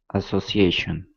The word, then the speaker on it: association: So the rule says, and the rule applies here, that the letter A is going to be the stressed one because it comes right before the shun sound.